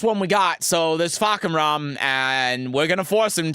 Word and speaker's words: Fakumram: I'm scared of saying It's Fakumram, yeah.